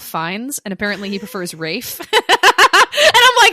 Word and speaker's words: Ralph: Or also we got corrected too that when we were talking about Wuthering Heights, we kept saying Ralph Fiennes, and apparently he prefers Rafe.